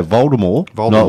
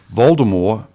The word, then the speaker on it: Voldemort: was it about vort according to Harry Potter author JK Rowling the proper pronunciation of the Dark Lord's name is also the also consistent with the French vder Moore without with a silent T oh okay Voldemort not